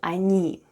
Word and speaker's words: они: Let's have a look at the spelling of the word они. The first sound is O. It's unstressed and is pronounced as A.